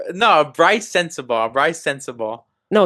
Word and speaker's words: Sensabaugh: Um I mean, one of the things tell me if I pronounce his name wrong. Brian Sanzaba. Is that how you pronounce his last name? No, Bryce Sensabaugh.